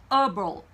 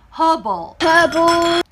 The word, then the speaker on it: herbal: 이것도 미국 영어에서는 herbal 이렇게 발음이 돼요. 하지만 영국 영어에서는요, herbal 이렇게 발음이 됩니다.